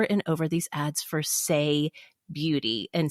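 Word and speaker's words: Saie: kept getting over and over these ads for say beauty and say is spelled s-a-i-e oh so it's clean Beauty and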